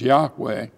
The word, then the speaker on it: Yahweh: name of God which is we're going to pronounce it as Yahweh and there are actually five excuses that Moses